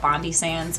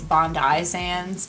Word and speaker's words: Bondi Sands: always mispronounce the name I call it Bondi sans apparently it's Bondi sands but I don't know I'm not Australian